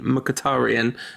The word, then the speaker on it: Mkhitaryan: But yeah, I think the Rantcast official pronunciation might be Mkhitaryan, just to avoid patronising anyone or getting anything wrong.